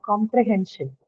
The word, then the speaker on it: comprehension: Now we have comprehension. Where do you think the stress to be marked in comprehension? It has the shen suffix. So On the hen part, yes.